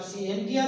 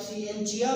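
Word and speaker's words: scientia: इसकी दो प्रोनाउंसिएशन होती है, आप सिएंटिया भी कह दें ठीक है, आप सिएंचिया भी कह दें ठीक है।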